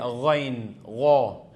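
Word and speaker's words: غين: letter lang siya then dito naman ay gin dito kinukuha sa dito sa ilalim ito gin so ayan siya so merong gh pag tinanggal mo ang tinanggal mo ang h maging ano lang magiging Ga ga okay go gu go ganon pero with h magiging gho o kaya gha tulad nito afgha afghanistan afghanistan so sa afghanistan kahit pag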